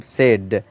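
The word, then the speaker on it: said: जो साद मतलब दुखी और एस ए आईडी मतलब सेड तो फर्स्ट वाला साद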